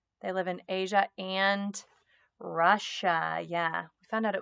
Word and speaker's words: Russia: was so weird that you hear a sh sound but it's not spelled with a sh names break the rules tigers live in asia and russia i think our second